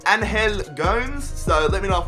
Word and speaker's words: Angel Gomes: Now, I've been reading your comments, and apparently it is pronounced Angel Gomes.